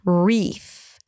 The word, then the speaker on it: wreath: spelling, but remember that every time you have a W and then an R, the W is pretty much silent. You don't pronounce it really. Wreath.